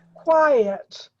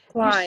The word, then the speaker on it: quiet: You say the quiet, you say that last part, but the E is not stressed. It's not stressed, so you would say quiet. Quiet. The emphasis is on the first part of the word, quiet.